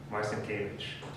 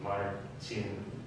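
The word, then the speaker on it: Marcinkiewicz: pronounce everything experience but in America we say Marston cage um as I understand polish this should be modern scene okay yeah so you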